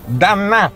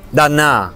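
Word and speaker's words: D'Annà: Dannà. Dannà, è il suo cognome? Eh sì, Dannà, di apostrofo Annà, con l'accento sulla A.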